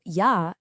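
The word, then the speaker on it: ja: It's a Y sound just like the Y in the English word yes. So, yah is pronounced ya.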